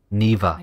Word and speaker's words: Niwa: Niwa, that's how you pronounce it.